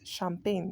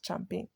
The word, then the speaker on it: champagne: have um champagne sh sh as in shame not CH as in church so it's champagne not champagne Christmas also note that